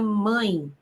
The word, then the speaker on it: mãe: Você fala mãe ou você fala mãe? Você fala mãe. Então, perceba comigo como este E está representando o som do I.